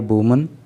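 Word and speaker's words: women: पढ़ते हैं इसको देखो जब एक महिला की बात होती है स्पेलिंग होती है डब्लू ओ एम ए एन तो आपको उसका प्रोनंसिएशन करना होता है वुमन लेकिन जब एक से अधिक महिलाओं की बात हो रही होती है और स्पेलिंग होती है डब्लू ओ एम ई एन तो आपको उस में उसको बोलना होता है वमन तो 96 मेन है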